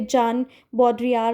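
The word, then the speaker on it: Jean Baudrillard: Then symbolic exchange तो जीन बॉड्रीलार्ड आप पढ़ सकते हैं इसको। वैसे प्रोनाउंसिएशन इसका समटाइ्स कहीं पे जान बॉड्रिया भी बोला हुआ है।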